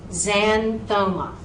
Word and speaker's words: xanthoma: And then if the word begins with an X, it's said like a C. So, xanthoma, xanthoma.